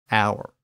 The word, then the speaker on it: hour: The problem was that silent H, which English had inherited from French in words like honor, honest, hour, and herb.